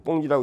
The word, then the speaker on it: 공지: 그래서 자, 쓸 때는 공지라고 쓰고 읽을 때는 뭐라고 읽는다? 꽁지다라고 합니다. 나머지라는, 꽁지가 보통 나머지라는 의미가 되죠. 그래서 자, 공지라고 쓰고 꽁지라고 읽는다 잊지 마시고, 요 나지는 건물이 하나도 없는 겁니다.